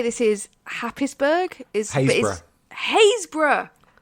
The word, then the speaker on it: Happisburgh: Haysborough. Haysborough. Yeah. Said Haysborough, still the best one to pronounce.